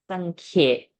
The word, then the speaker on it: साङ्ख्ये: साङ्ख्ये Sankhye.